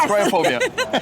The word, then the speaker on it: Kriophobia: First of all, how do I pronounce it? Luigi. Oh, the game. It's Cryophobia.